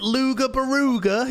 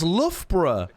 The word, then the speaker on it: Loughborough: They'll be like, oh, you're pronouncing it Luga Baruga, you silly Billy. That's Loughborough.